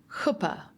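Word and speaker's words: חופה: It's a hard guttle guttural ch like you would pronounce the ch in bach. So koopa.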